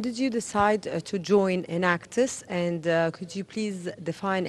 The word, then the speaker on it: Enactus: team so what does enactus it's actually a three-syllable world word that stands for a in which is entrepreneurial action act which is action and us for us also it's entrepreneurial action